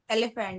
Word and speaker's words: elephant: you pronounce this word elephant no have a look look at the two schwas so the first e is making an e sound but the second e is making a schwa sound and the a in